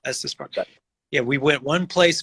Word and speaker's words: Estes Park: Is it Estes Park? Is that how you say it? Yep, Estes Park.